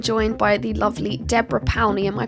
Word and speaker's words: Powney: today I am joined by the lovely Deborah paly am I pronouncing that correctly that's right yeah py yep